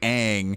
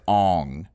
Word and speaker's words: Aang: It's actually Aang, but in the movie they pronounce it as Ong.